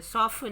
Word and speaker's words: soften: Soften में T silent है.